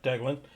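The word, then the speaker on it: Deglan: Deglin, I might be pronouncing that. Yep, Deglin.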